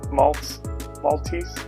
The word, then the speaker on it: Maltese: How is that spelled? Not Maltese. Add it to the list. M-A-L. Yeah. Maltese. Okay. Not M-E-L.